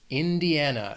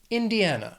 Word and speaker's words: Indiana: The next state, Indiana, has 4 syllables. Stress is on that third syllable. Indiana.